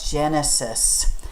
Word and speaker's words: Genesis: to the book of Genesis. It starts with a G, but we pronounce it with a J sound, Genesis, which means beginning or the first book.